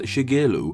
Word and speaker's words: Shigeru: An example, this single character in his name is pronounced Shigeru.